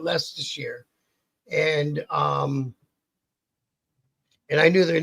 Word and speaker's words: Leicestershire: All I know is that the name on the back of their jacket said Leicestershire, and it's spelt all fucked up, but you pronounce it Leicestershire.